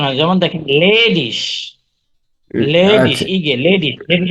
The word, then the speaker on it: ledig: হ্যাঁ আর মেন্স হচ্ছে তারপরে ইগে, ইগে, ইগে পাশাপাশি থাকলে সেটা উচ্চারণ হয় হচ্ছে ইসের মতো, ইসের মতো আচ্ছা। উচ্চারণ হয়। যেমন দেখেন লেডিস, লেডিস, আচ্ছা।